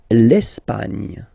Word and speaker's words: L'Espagne: L'Espagne. L'Espagne. Okay, don't insist on the final E because basically it's not pronounced.